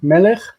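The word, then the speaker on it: מֶלֶךְ: Melech, ha-melech.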